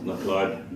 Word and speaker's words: McLeod: McLeod, it's McLeod.